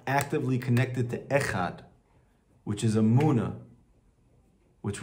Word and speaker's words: Echad: the Gemara says that you should pronounce the Dalit and make sure that you bring out the Dalit, and this is brought down in the Shulchan Aruch, right? You have to actually pronounce out the Dalit. Why? So it doesn't sound like a Resh.